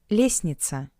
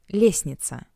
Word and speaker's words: Лестница: Лестница. Лестница. Лестница. The letter T is not pronounced in this word. Лестница.